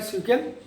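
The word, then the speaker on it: SQL: अभी हम आगे और चलेंगे जिसमें सीक्वल को पढ़ेंगे, एसक्यूएल जिसको आप लोग कहते हो बट प्रोनाउंस किया जाता है सीक्वल, यानी स्ट्रक्चर्ड क्वेरी लैंग्वेजेस, और डेटाबेस कैसे हम क्रिएट करते हैं इनको भी सीखेंगे।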